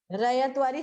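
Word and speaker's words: ryotwari: In which year Raivatwari system was introduced?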